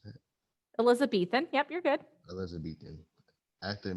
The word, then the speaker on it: Elizabethan: As Elizabethan, how do you pronounce that? Elizabethan.